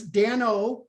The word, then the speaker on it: Dano: people struggle with my name uh so it's dan o and that's actually my given name my uh